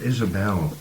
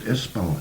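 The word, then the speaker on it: Ysbal: Now, Isbel, it's not Isabel in No. Manx, it's Isbel, and it's spelled Y-S-B-A-L.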